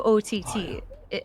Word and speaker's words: OT: think so my name's o t uh nice to meet you OT I is it pronounced like that it's not like a A or Auto or something it's OT it's well it's actually autotune